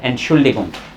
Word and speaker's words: Entschuldigung: सबसे पहले एंट का साउंड आया, एंट शूल डी गुंग, मैंने लिख दी डिगुंग, डिगुंग, ठीक है, ये